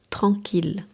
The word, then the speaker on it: tranquille: Malgré la présence de I de z, certains mots se prononcent avec le l simple comme il. Exemple à retenir ville. 1000 millions. Tranquille.